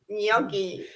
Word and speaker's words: gnocchi: gnocchi or is it gnocchi gnocchi gnocchi yeah there's no g in it it is n't it